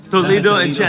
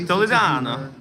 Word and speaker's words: Toledano: I met him a couple of times and I keep mispronouncing because I go. Yeah. Everyone says Toledo. Toledo and Chan. That's Toledo and Chan. He's like Toledano.